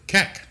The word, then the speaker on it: Keck: see here good job my last name most people struggle with it for some reason seems pretty syllabically neutral for me phonetically neutral Keck yeah exactly um Rick